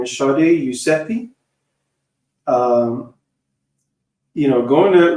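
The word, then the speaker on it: Shadi Yousefi: Um this is how to pronounce her name is Shardi Eusei.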